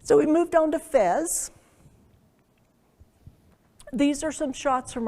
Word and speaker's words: Fez: you know but and it's mostly pronounced there as fest with an S all right so we're